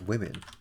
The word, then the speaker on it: women: Because women, like O pronounced women, pronounced like an I rather.